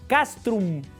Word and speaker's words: castrum: Bueno, la palabra castrense viene también de latín castrom con m de mamá al final. Castrum.